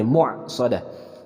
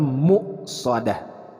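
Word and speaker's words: مؤصدة: Nah di sini ada hamzah disukunkan Jadi cara membacanya Jangan sampai berubah jadi air jadi muak soda tapi dibacanya muqsadah kita akan Baca ayat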